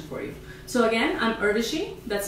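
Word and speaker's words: Urvashi: you so again I'm irishi that's spelled Ur r v a s Shi rhymes with Hershey my blog is to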